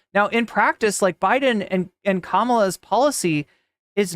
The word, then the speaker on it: Kamala: Her name is actually pronounced Kamala. And they fear that entity. If you need a trick to remember it, it's comma -law.